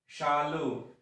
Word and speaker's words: Shalu: तो SH यहां पर आया हुआ है और हमने क्या कहा था, जब SH के पहले आता है तो तालव्य शा के जैसे उसका उच्चारण होता है। तो इसको हम कैसे पढ़ेंगे? शालू।